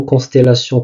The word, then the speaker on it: constellation: Et puisque le mot constellation comporte ou compte 5 syllabes, constellation, cela veut dire qu'il y a une diérèse et non une synérèse.